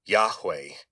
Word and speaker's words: Yahweh: And of course the way you would say this phonetically is Yahweh.